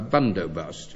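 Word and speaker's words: bandobast: A bundobust. It's spelled B A N D O B A S T. But as far as my knowledge of Hindi stretches, it's pronounced Bundobust.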